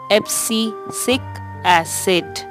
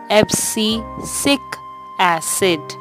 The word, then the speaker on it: Abscisic acid: the pronunciation of the scene word it is pronounced as FC sic acid FC sick acid it is one of the phytohormone that inhibits